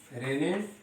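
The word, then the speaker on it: René: रेने, इसमें एस का pronunciation नहीं होता है, इसको हम लोग पढ़ते हैं रेने डेकार्टे।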